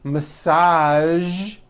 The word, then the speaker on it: massage: these words are the color beige the word massage and the word Prestige okay okay now that